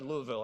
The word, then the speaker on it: Louisville: Sorry, Louisville. I've got to pronounce it right.